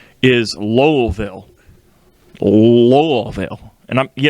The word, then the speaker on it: Louisville: was very adamant that it's not louisville it's lowellville a little veil i'll